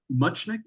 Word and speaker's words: Muchnick: Am I pronouncing Muchnick?